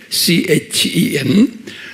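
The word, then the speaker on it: חן: 이스라엘 말로 입으로 말이죠 히브루말로는 chan 그래서 이것을 어떤 사람들은 바람을 했니라고도 발음하고 chen 또는 캠이라고 발음하고 그래요 그리고 진약에 은혜하면요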